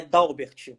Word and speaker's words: Dalbert: uber né que nem nada né então é dalbert só que tem uma caso muito baixo o